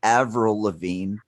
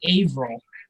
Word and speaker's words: Avril Lavigne: were disagreeing on her name I call her Avril Lavigne Joe Joe how do you say in Canada you be quiet she is Canadian first of all and five tenets Avril Lavigne Avril Lavigne we're calling her Averell no I won't all right fine April from